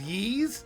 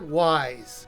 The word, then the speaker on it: Ys: game and the only reason I know it's pronounced ye is because they say it in the game if not I keep calling it wise I reviewed ye's book one and two for